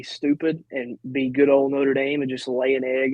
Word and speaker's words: Notre Dame: Number 8th ranked team in the country, Notre Dame. That's how you pronounce it.